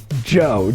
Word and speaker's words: Gio: And then this is my signature piece called the Gio, or in Italy they pronounce it Gio, G-I-O.